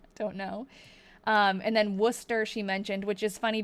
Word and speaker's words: Worcester: I know that that that's a um but in seriously in Massachusetts we pronounce it Worcester. And some other places I think pronounce it Warchester.